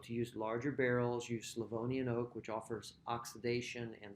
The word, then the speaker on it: Slavonian: aged in slovonian oak i often hear people mispronounce this as slovenian oak that's different it's slovenian oak this is the tradition with nebiolo to use larger barrels use slavonian oak which offers oxidation and softening without offering